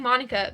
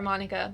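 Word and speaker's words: Monika: And so Japanese does not have a ma. It does have a ma sound. But the way it's spelled, it would be mo, not ma. So Monica is where I'm coming from.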